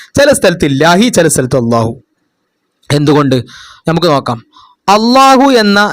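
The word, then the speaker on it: الله: അടുത്ത, ലാമിന്റെ മുമ്പുള്ള അക്ഷരത്തിൽ ഫതഹോ ലമ്മോ ആണെങ്കിൽ ലാമിനെ വായ നിറച്ച് ശബ്ദത്തിൽ ഉച്ചരിക്കണം.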